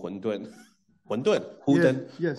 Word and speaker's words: 混沌: Yeah, just say Hun Dun.